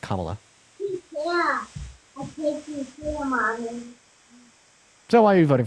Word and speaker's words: Kamala: then second of all her name is pronounced Kamala so why are you